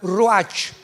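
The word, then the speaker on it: ruach: Apunta la palabra espíritu en el hebreo es como suena roach.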